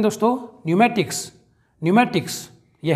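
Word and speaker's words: pneumatics: अगला देखते हैं दोस्तों न्यूमेटिक्स।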